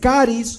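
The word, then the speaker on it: χάρις: La palabra, por ejemplo, gracia es caris o charis, como usted quiera pronunciarlo.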